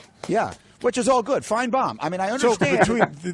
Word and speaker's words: Finebaum: It's pronounced as though the second syllable is B-O-M-B, right? No, that's a Southern thing. We like bombs. Yeah. Which is all good. Finebaum.